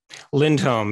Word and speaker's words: Lindholm: your last name lindholm lindholm it's uh it's swedish yep awesome have you